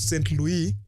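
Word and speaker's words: Saint-Louis: the first one is St Louis that is the right pronunciation in French Gori Daka and risk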